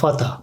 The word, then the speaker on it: Vater: Ama diğer mesela Vogel kuş demek. Biz orada V'yi F şeklinde ya da Vater baba demek. Biz onu V'yi F şekliyle okumuş oluyoruz arkadaşlar.